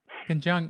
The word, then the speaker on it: Ken Jeong: It's funny how many people we brought through there, like Ken Chung. Is that how you say his name? Ken Chung? Ken Jeong. Ken Chung. Yes.